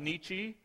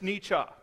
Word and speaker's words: Nietzsche: most people call him Nietzsche however if you are reading the German properly it's Nietzsche anyhow Friedrich Nietzsche was